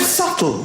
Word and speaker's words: subtle: The word subtle, would anybody object if it was spelt S-U-T-L-E? Not a single person would. But there's a B in the middle going, shh, just ignore me.